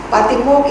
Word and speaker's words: Patimokkha: Patimokkha is in Pali.